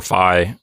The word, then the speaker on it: phi: Phi but you know I've heard Scholars use both pronunciations they'll call it fee or Phi you know it really